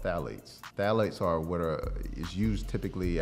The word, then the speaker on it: phthalates: So when you turn it on the label and you see phthalates, it starts with a P. Mm-hmm. The P is silent.